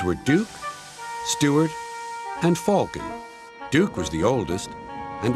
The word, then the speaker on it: Falcon: quite get Carlin's pronunciation he can say Duke and Stuart fine but Falcon its Falcon he sounds like he's saying Falcon what kind of name is Falken Stuart and Falcon used